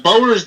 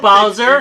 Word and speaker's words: Bower's: It's Bower's Game Corner. We've gotten better at that. Have you noticed that?